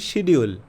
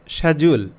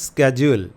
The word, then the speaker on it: schedule: তো ব্রিটিশরা এটাকে বলে শ্যাজুল, আর আমেরিকানরা বলে স্ক্যাজুল।